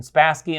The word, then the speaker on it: Spassky: the century uh spasky I had to look up the pronunciation spassky and Fisher not Fisher